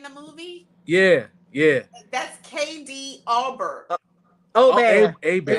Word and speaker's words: Aubert: That's KD Albert. Aubert. Abear. It's Aubert. Abear. Aubert. Aubert. Yeah, That's that's how her you cousin.